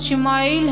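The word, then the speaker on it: שמעאל: خوشخبری سنا دی گئی۔ عبرانی زبان میں اسماعیل کا تلفظ شمائیل ہے، شما کے معنی ہے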